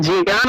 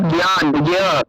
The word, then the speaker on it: জ্ঞান: কিন্তু এই ক্ষেত্রে মনে রাখতে হবে জ্ঞান শব্দের ক্ষেত্রে এটাই কিন্তু কি বর্গীয় যেটা গয়ের মতো, পুরোপুরি গণ নয়, তো হালকা গয়ের মতো ইয় উচ্চারণটা হয়ে থাকে। অর্থাৎ জ্ঞান, জ্ঞান এরকম উচ্চারণ হয়।